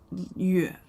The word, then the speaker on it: 乐: Le, happy, cheerful, joyful. So kind of the opposite. Le. And le has the alternate reading, alternate pronunciation, yue, which means music and singing.